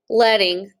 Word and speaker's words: leading: Leading, so like I said, is pronounced leading.